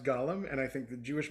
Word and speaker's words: Gollum: thing, which is that I believe that the creature from Lord of the Rings Mm-hmm. and the Jewish mythological creature Mm-hmm. should be pronounced differently. I think Agreed. Gollum from Lord of the Rings should be pronounced Gollum, and I think the